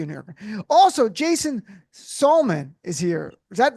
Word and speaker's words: Salmon: I knew him as Salmon, Jason Salmon. Then it changed to Salmon because better called Saul. And it's spelled like Sam, and it's messed up all around.